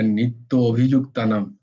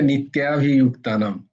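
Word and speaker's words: नित्याभियुक्तानाम्: তো এই বর্ণতে যেটা বলার আর কি, এই যে যখন শুক্লাদি উচ্চারণটা করছিল না, নিত্য অভিযুক্তানাম, তো উচ্চারণটা হচ্ছে নিত্যাভিযুক্তানাম। তো নিত্যা, ইয়া, ইয়াভি, আভি, অভিযুক্ত নয় কিন্তু। তাই জন্য সংস্কৃত বর্ণমালায় স্বরবর্ণ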